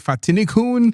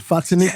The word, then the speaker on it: Fatini: So the way that I like to start the show is to do a quick introduction of who Fatini. Did I pronounce that right? You did. Fatini.